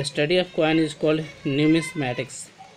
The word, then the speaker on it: numismatics: अब question number 2 है कि the study of coin is called न्यूमिस्मैटिक्स, तो उसको हम न्यूमिस्मेटिक कहेंगे, NUMISMATICS, न्यूमिस्मेटिक्स।